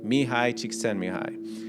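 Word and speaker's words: Mihaly Csikszentmihalyi: to hear this name mihai chic send me hi now it's spelled the way it's spelled is nothing like that because this guy I think he's like Hungarian but uh he writes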